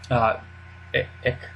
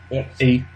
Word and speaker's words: Eich: Eich. Eich.